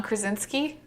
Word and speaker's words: Krasinski: But I can say that John Krasinski, is that how you say it?